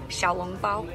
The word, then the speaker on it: xiaolongbao: soup dumplings how do you say it oh xiaolongbao yay but anyway now we are on our